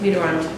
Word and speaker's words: Mitterrand: That's it, Mitterrand.